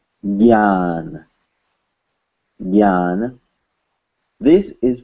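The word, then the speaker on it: ज्ञान: It's pronounced gya. Gya. At least by Hindi speakers.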